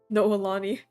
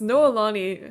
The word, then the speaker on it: Noelani: okay no Lonnie okay noelani okay yeah that makes sense because noelani has the same syllables and rhyme as macaroni and I don't know